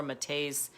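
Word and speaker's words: Maté: If you know Dr. Gabor Mate's, that's how you say it, work at all, he's written a book called When the Body Says No.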